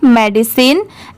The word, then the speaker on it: medicine: आएगी, DID, और CINE, तो यहाँ पर इसे साइन नहीं प्रोनाउंस करेंगे, यहाँ पर मेडिसिन की साउंड है, तो यहाँ पर इसे क्या पढ़ेंगे, सिन।